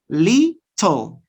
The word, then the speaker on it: little: you say little little the normal pronunciation of this word is li toe but when you produce this sound or this word fast or quickly you change it right you say little little little bottle bottle 20 20.